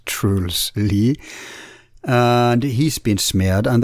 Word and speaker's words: Truls Lie: That's how his name is pronounced, not Trolls Lie, but Truls Lie.